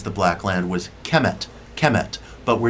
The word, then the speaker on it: Kemet: through the hieroglyphic um term uh chemet kemet k m t would be the phonetic pronunciation kemet means black land black